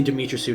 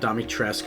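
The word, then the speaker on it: Dimitrescu: uh lady dimitrisu and i say dmitrysu not domitress or whatever the hell i pronounce it the way you read it demi tressu um she's the tall vampire lady from resident evil 8.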